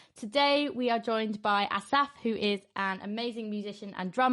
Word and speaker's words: Asaf: People say Asaf, so like an accent on the A. But Asaf is actually the Hebrew way.